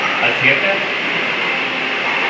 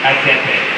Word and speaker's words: aceite: Asiete? How do you say oil? How do you say oil again? Asiete? Aceite.